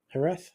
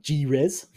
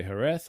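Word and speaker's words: Jerez: you'll hear people say herth or Herz yeah like it's but yeah you def it's definitely not a j that you pronounce it but yeah it's the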